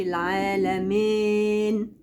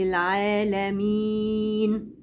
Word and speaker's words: العالمين: مين، ما اقولش العالمين، لا اقول العالمين.